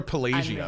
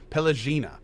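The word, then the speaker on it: Pallegina: I always call her Pelagia, but that's not how I said it. Pelagina.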